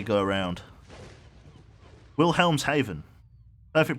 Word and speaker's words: Wilhelmshaven: the English Channel I would say go around Wilhelmshaven perfect pronunciation thank you the t1 could easily be